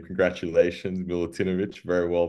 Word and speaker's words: Milutinovic: as a digital noad with my guest Milan milutinovic Milan welcome to the show how you doing Becca you did well in the last name congratulations milutinovic very well pronounced appreciated thank you so much we're gonna